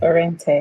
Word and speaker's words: Orene: She has a product that she's launching or has launched called Orene. I hope I said it right. Yes, Orene.